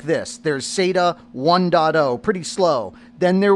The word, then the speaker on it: SATA: And that's SATA. That's how we pronounce S A TA.